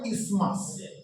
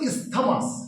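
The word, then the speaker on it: isthmus: এই যে শুরু হয়ে গেছে যে রিজনটা এটাকে বলে ইসমাস। বানানটা কিন্তু ইসথামাস। কিন্তু আমরা ইসথমাস বলব না। আমরা কি বলব? ইসমাস। স্পেলিংটা কি? আই এসটি এইচ এম ইউ এস। উচ্চারণটা কিন্তু ইসথামাস না উচ্চারণটা ইসমাস ঠিক যেমন অনেকে আমরা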